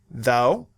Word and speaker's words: though: All these words have the letters OUGH. But those letters represent different sounds in each word. Listen. though through cough rough plough